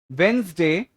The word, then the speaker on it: Wednesday: So the 3 words here are called as lasagna, Wednesday, and Audi.